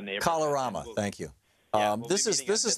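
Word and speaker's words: Kalorama: So the is it pronounced Calamara? Neighborhood? Calorama neighborhood. Calorama, thank you.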